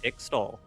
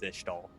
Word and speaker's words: Ixtal: Noxus emblem and Ixtal. Ishtal? Ishtal. Ixtal? What's the... I don't know. We need a pronunciation guide, Riot. Well, I'm pretty sure Kiana pronounces it as Ishtal.